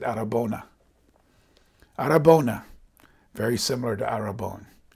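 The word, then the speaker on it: αρραβώνα: They said arabona.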